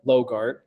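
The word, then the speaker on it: LOGRT: for site Readiness so the way that I pronounce this is Lita logart that stands for Local Economic Development act local option gross receipts tax this has been on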